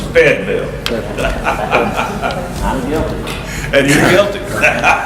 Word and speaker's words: Fayetteville: The original pronunciation of Fayetteville was Feydville, and Hayden still says that. That's how I said Fayetteville growing up. It was not Fayetteville, it was Feydville.